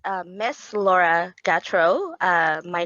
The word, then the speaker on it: Gautreaux: It's Miss Laura Gatro. My name is spelled Gautreaux.